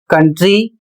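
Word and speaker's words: country: अगला शब्द है सी ओ यू एन टी आर वाई जिसे पढ़ा जाता है कंट्री और इसकी हिंदी होती है देश।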